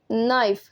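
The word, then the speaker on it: knife: में नाइफ कहते हैं नाइफ के जो है यह साइलेंट हो जाएगा ठीक है नाइफ पढ़ा जाएगा नाइफ त जब हम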